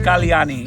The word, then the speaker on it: Kalyani: your practitioner was so the app's name is Kalani and it's a Sanskrit word it means okay how to spell it uh k a l y a n i it's right here uh and it's ci.